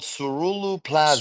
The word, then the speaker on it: ceruloplasmin: That or Ceruloplasmin.